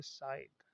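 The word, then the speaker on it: scythe: याद रखिएगा, इसकी प्रोनाउंसिएशन है साइथ।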